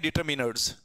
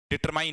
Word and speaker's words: determine: इनको बोलते हैं डिटरमिनर्स। क्या बोलते हैं? डिटरमिनर्स। सिंपल सी बात है, डिटरमिनर्स क्या करते हैं? डिटरमिन करते हैं। ये डिटरमिन है, डिटरमाइन नहीं है।